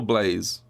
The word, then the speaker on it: Blaz: blaz or Blaze Blas does anyone know is it blaz or Blaze sorry for mispronouncing just blaz um who is I